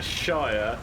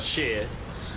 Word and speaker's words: shire: This is a shire, yeah? Not a shear.